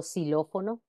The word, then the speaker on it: xilófono: ambas en ambos casos en posición inicial de palabra también representa el fonema s eh Como por ejemplo xilófono xenofobia otro caso similar sucede